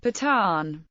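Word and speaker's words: Pathan: They are often referred by the Hindustani pronunciation of the word Pton. Patan.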